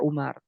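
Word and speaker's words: عمر: kan wau ini namanya untuk membedakan antara bacaan Amar dengan Umar kalau ada wau ini dibacanya Amr kalau nggak ada Waw ini namanya Umar begitu ada lagi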